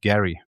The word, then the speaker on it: Jerry: My name is Jerry, pronounced Gary.